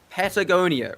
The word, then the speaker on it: Patagonia: to pronounce the map Patagonia. Right? Yeah. That's how it's pronounced. If you read it letter by letter, but for some reason my brain inserted an L after the first letter.